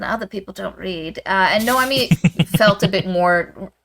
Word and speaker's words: Noemi: And Naomi kind of Noemi. I don't know why I pronounce it the other way. Noemi falls into that archetype somewhat.